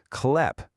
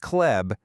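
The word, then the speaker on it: хлеб: Klep. It's not kleb.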